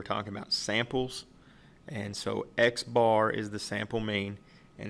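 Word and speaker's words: x̄: But notationally in statistics, what we use is this X bar, and that's exactly how you say it.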